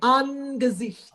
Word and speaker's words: Angesicht: Angesicht is an important word. Angesicht. You must pronounce the N, Angesicht.